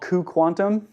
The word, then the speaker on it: cuQuantum: Um the first is what's called cuQuantum, pronounced that way as I've learned.